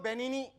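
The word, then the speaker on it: Benigni: कहता हूं कि रोबर्टो बेनी बेनी उसके नाम में जी साइलेंट है जी साइलेंट है जी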